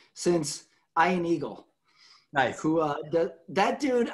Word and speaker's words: Ian Eagle: was like oh it's ian eagle and he pronounces it i an eagle oh i get it